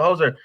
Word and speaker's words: Jozer: Jozer? Yeah, Jozer. Jozer. Okay, Jozer. I want to make sure I'm saying that right. All right, so Jozer, you and I met at the Lalo Delgado Poetry Festival.